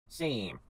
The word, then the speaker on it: same: What we're doing is adding a silent E to the word Sam. Same.